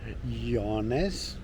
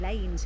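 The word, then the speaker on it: Llanes: We've driven to a place called Yanes pronounced perfectly. It possibly better than we thought it was because it looks like lanes in English.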